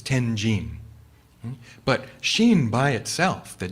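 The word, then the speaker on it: 天親: Now, Vasubandhu's name in Japanese, or in Chinese, which we pronounce in Japanese, is Tenjin. Tenjin.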